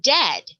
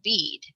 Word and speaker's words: dead: sounds like bird and dead it said like bed not beed for goodness sake don't